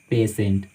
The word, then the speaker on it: patient: तो आए आपको ध्यान में रखना है कि जब भी टी के बाद किसी वर्ड में टी के बाद आई ए, आई ई, आई वो आए तो वहाँ पे TIA को सी का साउंड देता है, सी का उच्चारण होता है, TIO को सो का उच्चारण हम करते हैं, और TIE को से का उच्चारण करते हैं। एग्जाम्पल देखिए आपके सामने, पोटेंशियल, रेशियो, पेशेंट।